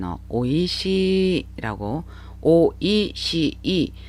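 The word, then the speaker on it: おいしい: 드릴께요 오르 시작하는 대표적인 단 없고 2시 라고 오이시이 4 음 절어 이지만 어 시에서 장마 현상이 나타나요 c 안고 비슷한 발음이 뒤에 나오기 때문에 서씨를 길게 발음 하셔야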